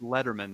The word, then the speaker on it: Lederman: Letterman right as yeah sorry I mispronounced your last name earlier so just Letterman not my my my